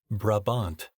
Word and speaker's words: Brabant: the modern-day European brabant pronounced brabant I'm sure that's controversial to some is a heavy horse